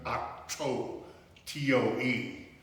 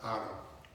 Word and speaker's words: Otto: His name was Otto Beardsley, pronounced by family and friends in Western Kentucky, Otto, T-O-E, not Otto.